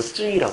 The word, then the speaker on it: 쯔위: 근데 중국 발음은 쯔위라고 그래요. 쯔위.